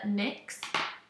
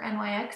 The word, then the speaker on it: NYX: but I really like the nicks or NYX however you like to pronounce it I just kind